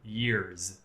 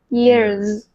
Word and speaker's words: years: the end of years, even though it's written with an "s", right? We need to actually pronounce it like a "z." Past few "yearz." Yearz.